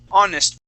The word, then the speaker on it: honest: It is true, some words, even though they start with an H, that H is silent. So we would not say a honest person, it is an honest person.